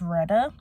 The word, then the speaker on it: Retta: Her name is not Rita, it's Retta.